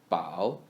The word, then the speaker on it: 宝: 宝 is read as the first syllable of the word 宝 in the third tone.